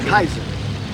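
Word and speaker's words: Caesar: So uh go back into uh Julius Julius Kaiser. All right. And another thing there is no C sound in the Latin. All right. It's It's always a hard cat.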